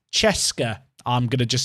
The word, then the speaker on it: CSKA: CSKA is pronounced Cheska.